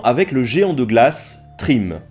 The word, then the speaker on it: Thrym: Arrivé à destination, celui-ci engagea la conversation avec le géant de glace, Trim. Et là, bien sûr, je prononce à la française.